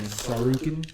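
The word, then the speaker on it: Tsarukyan: Sarukin? Yeah, Sarukin. I think the T is silent.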